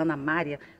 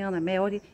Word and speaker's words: Ana Melry: falo, pronunciei certo, porque eu sempre tentava falar Ana Maria, não é Ana Maria, é para mim Ana Melry, e ela acabou dizendo para mim, Aleide, você é a única pessoa que pronuncia certo.